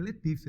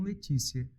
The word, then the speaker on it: Letícia: canta assim ó Letícia Letícia é Letícia né e não Letícia Letícia é uma pronúncia língua dental Então muda de região mas Wagner vem cá é Letícia ou é Letícia as duas formas são aceitáveis sendo assim das expressões